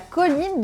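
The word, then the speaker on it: choline: l'homme en 4è point nous avons la colline donc ça se prononce bien comme une colline mais ça s'écrit pour les premières lettre comme le cholestérol et il y a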